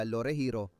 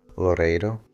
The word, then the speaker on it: Loreiro: Pero ngayon idod-dokumento natin at ipapakita sa inyo ang bahay ng pamilya Lore Heriro. Tama ba ang pagbigkas ko? Loreiro.